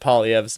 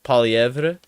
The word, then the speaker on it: Poilievre: Some people will put a little bit extra French mustard on there and be like Poilievre, and they'll like pronounce that R at the end. I think we've all sort of decided that the R is silent at the end there.